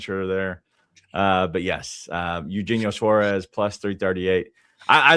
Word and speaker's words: Eugenio: Eugeno Eug Eugenho. That's how you say it, right? Eugeno Suarez. Eugenio Suarez.